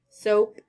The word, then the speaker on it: soap: way let's look here soap o you cross out the a because the a is silent we don't hear the a when we say soap and we put a